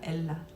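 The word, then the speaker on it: אלה: 엘라. 아, 히브리어 발음이 엘라가 나고요. 이게 뭐냐면 그 어, 그 테레빈 나무예요. 오크 참나무 느름나무 텔레빈 나무인데 어, 이게 사운드가 엘라로 나요.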